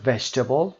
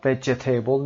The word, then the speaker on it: vegetable: کلماتی که در مثال آورده شده مثل vegetable میتونه نمونه خیلی خوبی باشه. ما vegetable نمیگیم، میگیم vegetable. بی صدا هست اینجا، این ای رو تلفظ نمی کنیم.